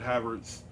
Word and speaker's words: Havertz: I always pronounce it Havertz.